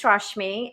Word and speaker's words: Rashmi: bit about me uh my name is rashmi and it's if it's hard to pronounce it just rush me so simple as that and i my company